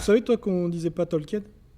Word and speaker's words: Tolkien: Les gars, on dit Tolkien et pas Tolkien, hein, la bonne prononciation, c'est ça.